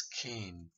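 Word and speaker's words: חן: From the Old Testament, it's pronounced as Cain, which means kindness, favor.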